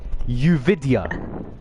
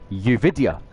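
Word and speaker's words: Yoovidhya: We're We're going to do some pronunciation practice. Uvidia. Uvidia. Say it after me. Uvidia.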